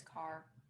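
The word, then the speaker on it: Kaur: rupee car yeah i don't know how to pronounce it car yeah it's car and i i get a lot of flack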